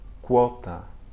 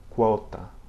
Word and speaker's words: quota: Before other vowels such as A or O, it sounds like KW, okay? Quando, quota. Quando, quota, okay?